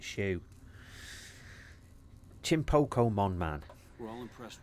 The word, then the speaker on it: Hsu: it's the one with the name Hsu but you pronounce it Shu chimpo mon man all